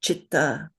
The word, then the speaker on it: citta: unaspirated letter which is the first column that is always pronounced cha. So we know the words in Sanskrit you have probably heard them chakra. There's chitta.